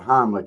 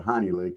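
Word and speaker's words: Heimlich: I don't think, you know, as far as the Heimlick, he he pronounces it wrong. He doesn't call it the Heimlick. He calls it the honey lick, and he ain't got it right yet.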